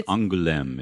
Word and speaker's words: Angoulême: Oh, it's Angoulême is how it's pronounced.